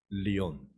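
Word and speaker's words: Leon: 영어로는 레온이라고 돼 있는데 발음은 리온이라고 합니다. 사자라는 뜻이랍니다. 리온 마지막 퀴즈 이분의 이름은 무엇일까요?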